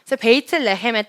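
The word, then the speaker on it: בית לחם: 있는데요 베이트랩 햄 네 베이트나 햄은 베들레헴에 히브리한 발음이거든요 베들레헴 베이트가 집이라는 글자잖아요 집은 원래는 이제 바이트라고 쓰이긴 한데 이제 변형이 될 때 베이트라고 쓰여지는데 베이트는 집 라헴은 빵을 의미를 하는데요 베이트 레헴의 뜻은 빵집입니다 그래서 빵집이기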